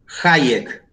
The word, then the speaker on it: Hayek: Hayek, con J.